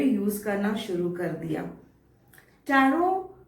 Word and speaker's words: tarot: टैरोट एक wrong pronunciation है, इसलिए क्योंकि टैरो की जो स्पेलिंग में लास्ट वाला टी होता है वो साइलेंट होता है। इसकी स्पेलिंग है TAROT। एंड वाला टी, जैसे मैंने कहा, इज अ साइलेंट टी। तो आपको इसे प्रोनाउंस करना है टैरो।